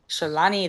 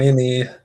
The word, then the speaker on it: Shalini: Shalani, thanks for joining. Um, Shalini, that's how you say it, yeah, Shalini.